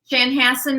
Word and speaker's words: Chanhassen: town where Prince lived, and I still cannot pronounce the name of the town. So what is it, Virginia? Chanhassen, Minnesota.